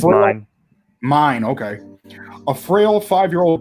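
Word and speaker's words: Myne: As if fate was listening to her prayer, she wakes up reincarnated as Min, or Mine. You guys have watched the show. You probably know how it's pronounced. It's pronounced Mine.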